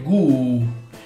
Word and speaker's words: god: Un'altra cosa molto importante è nella parola bene, buono, good, la O si pronuncia come U in usare o nella parola uno, quindi è gu, e la D finale si sente molto poco, se non addirittura non si sente.